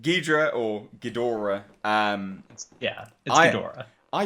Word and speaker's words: Ghidorah: really decent so Ghidorah people always hate on me for saying that in that way how do you say in his name like that I said Ghidorah yeah people want to hear you say goodra that's what they want